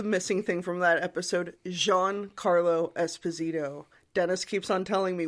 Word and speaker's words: Giancarlo Esposito: Also, the missing thing from that episode, Giancarlo Esposito. Dennis keeps on telling me, when are you going to mention it on the podcast? And I said, it's on the missing episode now. I know. Giancarlo Esposito.